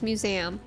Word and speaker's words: museum: I say it like 2 syllables. Museum.